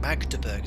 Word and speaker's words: Magdeburg: place i didn't say make the button magnet magdeburg so you pronounce it okay um what i might do